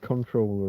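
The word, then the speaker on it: comptroller: I'm going to pronounce it as it's written even though you would say controller or something. You don't pronounce the M and the P in that way.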